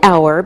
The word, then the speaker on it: hour: examples we say an hour because we don't pronounce the H so it sounds like a vowel sound same with an honest